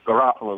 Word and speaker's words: Garafolo: want to hear but when you americanize it so you said it right the American way but really the true way to say it is garoo the way they say it over and got it kind of like Janine Garoppolo there you go she's